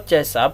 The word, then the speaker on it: C++: Tulisannya begini, C pagar gitu. Dibacanya C#. Nah, ada juga bahasa pemrograman C++ gitu. Ya, bukan Pijet++ ya, tapi C++ gitu. Ya.